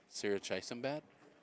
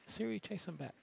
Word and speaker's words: Sirichaisombat: Sirichaisombat? Yep, just like it looks. It's a cool name. Yeah, I asked her, how do you say the name? Sirichaisombat.